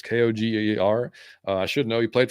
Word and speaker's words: Koger: I don't know if it's Koger. I don't know how to say his last name. It's Koger.